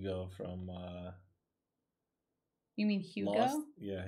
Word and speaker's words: Hugo: from uh you mean hugo yeah you go did you say hugo like huge and human you go oh i